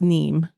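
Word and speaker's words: Nîmes: train to Nim we took the train to neem sorry NE I believe they say ne and how do you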